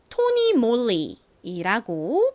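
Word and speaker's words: Tony Moly: 나왔네요 오 소리 나고요 그다음에 L이 나왔는데 원래 실제 영어 단어를 읽는 방식으로 읽으면이은 몸 뒤에 와서 이렇게 받침으로 들어가게 됩니다 그리고 또 한번 뒤에 있는 y 연결되면서 요렇게 토니 몰리이라고 발음이 되는데요 그런데이 브랜드에서는 토니 몰리라운지 만약 L이 아니라 R이 왔다면 그러면 받침이 생기지 않고 mor 이렇게 발음이 될 겁니다 하지만 몸 뒤은 리 받침이 들어가요 여기서 모리는 영어 단어가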